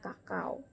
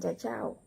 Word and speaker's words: cacao: Nah, kemudian huruf C dibaca K jika diikuti huruf A, O, U atau huruf mati. Nah, contohnya kakao, bukan cacao, nah tetapi kakao.